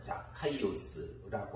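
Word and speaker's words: Ζακχαῖος: 삭개오라는 사람이 나오는데 삭개이오스. 이 정확한 발음으로 하면 자카이오스라고 하는 이름이 삭개오인데 삭개오라는 뜻, 이 자카이오스라고 하는 뜻은 순결한 자라는 뜻입니다.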